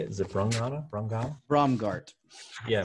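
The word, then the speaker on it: Braungart: Is it Brongata? Brongal? Bromgart. Yeah, Bromgart.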